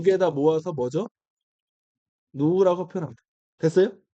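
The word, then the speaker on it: ν: 자 그러면 어 얘를 한 영어로 뭐라고 얘를 이거 V 아닙니다. 이거 얘를 뭐라 그냐면 한국말로 누라고 해요. 누 누 할 때 누 얘를 누라고 부를 거예요. 누 이거의 기호가 라틴어로 누릅니다. 발음이 누예요.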